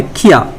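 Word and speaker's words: キャ: इसका प्रोनाउंसिएशन आता है किया। नेक्स्ट 1 2 3 की प्लस यू, प्रोनाउंसिएशन आता है क्यू, किया क्यू।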